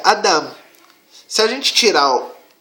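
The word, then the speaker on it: אדם: E essa pronúncia é Adam.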